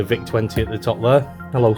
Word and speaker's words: VIC: I do believe that the pronunciation of Vic sounds like thick apparently and I think